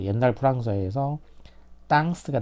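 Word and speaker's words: temps: 프랑스 현대프 에서는 이게 이제 이렇게 이렇게 되죠 땅 이것도 마찬가지로 땅이죠 땅 그러니까이 템포 영어는 영어는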